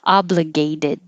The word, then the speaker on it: obligated: And if that was past tense or, okay, obligated. The T changes to a D.